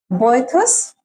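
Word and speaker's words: Boethius: We have a boyus. This is the pronunciation.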